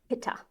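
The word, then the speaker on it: pitta: And in the west we pronounce it pitha.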